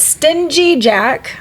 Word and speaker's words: Stingy Jack: But Stingy Jack, I'm going to pronounce that G, invited the devil in for a drink.